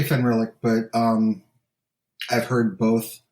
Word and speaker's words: Fenrilik: which is the the frostlands of is it fenrir lick or fenrylic how do you say it uh i say fun relic but um i've heard both and uh i